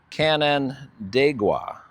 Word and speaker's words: Canandaigua: Apparently the name of this town is a Six Nation from Native American origin pronunciation, and it's Canandaigua, New York, I believe is the correct pronunciation.